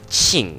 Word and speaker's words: Qing: I at least know that the Q letters in Chinese are supposed to be pronounced like Qing, like that with the CH sound, but whatever.